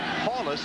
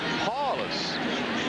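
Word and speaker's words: Powlus: paulus it is not paulus even though that's the way it's spelled it is pronounced paulus Paul just remember the big Paul Ron paulus now remember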